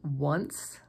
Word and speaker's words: once: words who and hole the wa sound can also be made by an O it can happen at the beginning of a word as in once or in the middle